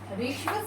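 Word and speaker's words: ह्रस्व: ऋश्व, इसको हर्ष्व नहीं बोलते, कई लोग इसका उच्चारण भी गलत करते हैं। इसके पैर में रे होता है, ये हमने रे लगाया, इसके अंदर रे होता है, इसीलिए इसको बोलते हैं ऋश्व स्वर।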